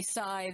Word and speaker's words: psi: meditation inside and ESP when I say sigh that's sort of the generic English word for all kinds of psychic phenomenon it's spelled psi and then dr.